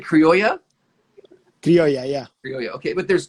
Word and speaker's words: Criolla: Yeah, Criolla it's perfect. Yeah, Criolla Okay. yeah, it's very close. You said Criolla? Criolla, yeah.